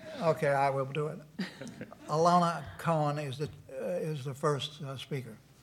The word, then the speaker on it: Ilona: It's Ilona. Why I'll take is it- anything close. There's an O, not an A.